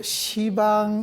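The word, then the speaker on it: 十方: 이게 원래 십방입니다. 그런데 십방이라 읽지 않고 시방 이렇게 있습니다.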